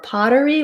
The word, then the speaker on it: pottery: question about pottery so for pottery we have first syllable stress and letter o says the ah vowel so i would think of that like an a or an a h you'll see it as